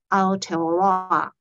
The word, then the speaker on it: Aotearoa: which in the Maori language is known as Aotearoa.